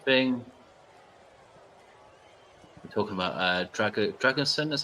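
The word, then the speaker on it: Drăgușin: same sort of thing talking about uh drag dragonson is how you say his name Dragon yeah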